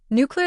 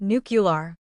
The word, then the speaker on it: nuclear: A common mistake famously made by more than one US president is adding an extra u sound making it nucular. But of course, as you can see from the spelling, there is no U there. The correct pronunciation is nucle. It has two syllables after the nuke, not three.